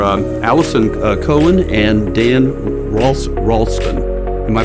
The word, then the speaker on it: Ralston: minute is are um Allison Cohen and Dan Ross ralon am I pronouncing that right Dan y Ralston okay uh we're going to get to them